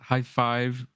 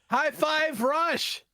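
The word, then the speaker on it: Hi-Fi Rush: Oh, our game of the month for October is High Five Rush. High five. High Five Rush.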